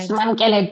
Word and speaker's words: Simamkele: She is Simamkele. Did I say it right? Smamkele, yes.